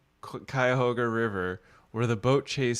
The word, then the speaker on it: Cuyahoga: The boat chase scene was filmed on the Cuyahoga River in northeast Ohio.